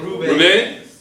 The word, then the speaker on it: Roubaix: Roubaix. Roubaix? Yes. Rennes? Rennes? They're done. Okay, I don't want to go into the pronunciation because I'm going to...